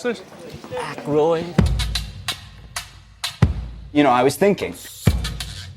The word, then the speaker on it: Aykroyd: Chevy Chase, Gilda Radner, Dan Iyek. How the do you pronounce this? Aykroyd.